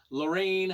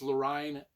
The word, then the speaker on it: Lorine: Lorraine, I think it's Lorine. L O R I N E. Line. I don't know. I was pronouncing it lurine.